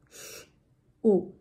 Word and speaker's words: should: Sh, sh, U, shu, shu.